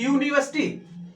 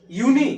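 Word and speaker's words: university: इसका भी देख लीजिए, यूनिवर्सिटी, यूनी, यू यू यू यू, होंठ आपका हिल रहा है, दांत आपके हिल रहे हैं, अंदर कंठ से भी आवाज आ रही है, तो टोटल मिला के पूरा का पूरा मुंह से उच्चारण हो रहा है, तो आपका ए से हो रहा है।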